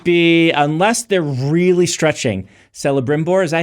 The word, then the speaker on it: Celebrimbor: Celebrimbor, is that how you say his name?